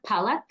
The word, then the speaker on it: Palak: So the emphasis is on the first part, palak.